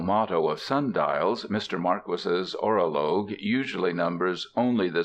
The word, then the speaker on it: Marquis: It is pronounced Marquis, not Marquee.